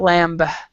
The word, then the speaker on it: lamb: so this is not lamb we don't we actually do not pronounce the b and then the fish